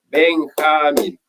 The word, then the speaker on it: Benjamín: Entonces mi profesora me enseñó, me dijo, Benjamín, tu nombre tiene 3 sílabas. Benjamín.